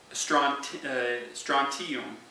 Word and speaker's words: strontium: Radioactive elements, iodine, strontium, let's see here, strontium is how it's pronounced.